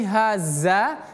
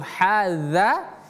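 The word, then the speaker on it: هذا: Kalau pakai haza atau hadza ini kan ada dua nih huruf yang mirip. Ha ini mirip dengan ha ya. Mirip dengan ha. Nah, kalau yang zal ini mirip dengan zai. Nah, jadi hati-hati jangan sampai hadza h ha-nya kita tipis ee kita kecilkan ha yang dnya kita jadikan zai.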